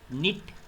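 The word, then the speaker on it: knit: Again word है right, इसमें W silent है। निट, इसमें K साइलेंट है।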